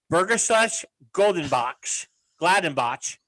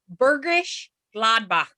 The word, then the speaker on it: Bergisch Gladbach: I think the pronunciation is much closer to Bergisch Gladbach.